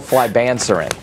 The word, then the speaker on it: flibanserin: It's called flibanserin. Flibanserin is the way it's pronounced.